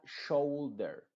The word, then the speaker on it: shoulder: En este caso, la U está siendo muda y la O es la que se está pronunciando. Se diría shoulder, boulders, mold, poultry, though.